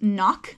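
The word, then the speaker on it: CNOC: once if needed so I think that they're actually pronounced just knock like the C is silent but pretty much everyone on trail still calls them sea knock bags and it is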